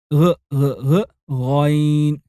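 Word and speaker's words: غين: Its pronunciation is near to the G of golf, but you must act like a Frenchman. So you don't say golf, but golf. So, say ghayn.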